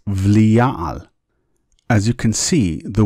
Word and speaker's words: Belial: Notice that the bet here does not have a dagesh, and therefore it's a V sound, and therefore it's Belial. As you can see, the word is pronounced with both a B and a V sound.